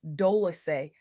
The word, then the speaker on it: Dolce: I'm your host, Dolce, pronounced Dolce, like sweet softness whispered in French.